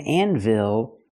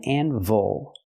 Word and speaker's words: anvil: Again, not an anvil. It's called an anvil. The first syllable is not stressed. So, we cannot say anvil. It's anvil. Use a relaxed close sound.